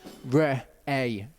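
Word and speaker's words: רְאֵה: And then you've got a hey at the end, which is pretty much a silent letter in this. So it's re-a is how you say that.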